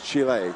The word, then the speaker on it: Chile: That's what we've been told is the correct pronunciation. It's Chile.